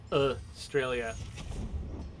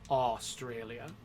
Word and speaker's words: Australia: So most people, when they're saying Australia, the first syllable is a schwa. It's Australia. But I think if you were actually trying to pronounce every syllable very carefully, it would be Australia.